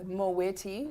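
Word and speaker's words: Moët: It's Moweti and Shandon.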